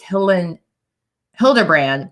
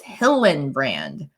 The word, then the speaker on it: Hillenbrand: have Molly there Hillebrand I mistakenly said her name wrong before because I thought it was Helen Hildebrand but it's Hillenbrand which is also the